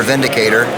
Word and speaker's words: Windicator: That's the EA Windicator, or Vindicator. It's made in Germany. The W is pronounced like a V.